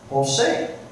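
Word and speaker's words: José: O S A Jose. We don't spell it with a H, do we? Even though that J sounds like an H.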